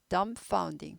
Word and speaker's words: dumbfounding: dumb 하지 않고 dumbfounding. B 발음하지 않아요.